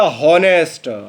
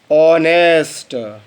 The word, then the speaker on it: honest: आपने उच्चारण किया हॉनेस्ट, हा से, क्योंकि हा से बनता है एच। आपको उच्चारण करना था ऑनेस्ट। इसे बेटा हम हॉनेस्ट नहीं ऑनेस्ट पढ़ते हैं, ऑनेस्ट।